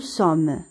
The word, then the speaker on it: sommes: nous يعني نحن، nous sommes بطبيعة الحال هنا لو اس ما كيتنطقش.